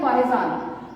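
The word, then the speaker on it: Fa-Hien: फाहिजान, बच्चे इसकी प्रोनाउंसिएशन है फाहिजान।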